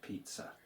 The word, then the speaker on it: pizza: I did say Polish don't do double z's, but when they bring a word in they do and they will actually pronounce both z's separately. So, listen out for that when you hear the word pizza.